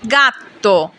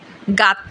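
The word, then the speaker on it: gatto: জেলাত জেলাত মানে আইসক্রিম কখনো গ এর মত যেমন গাত্ত গাত্ত মানে বিড়াল আক্কা আক্কার উচ্চারণ সাধারণত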